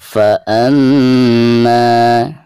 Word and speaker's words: فَأَمَّا: فَأَمَّا di sini mim yang bertasydid ya, merupakan salah satu daripada huruf guna. Jadi cara membacanya itu harus ada tekanan disertai dengan guna 2 atau 3 harokat.